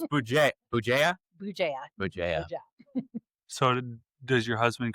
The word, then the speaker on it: Bugeja: Bugeja. Bugeja. I was afraid. Ooh, is it? I'm not gonna lie. I was afraid. I was like, yeah, I'm not gonna even try that. So it's Bugeja.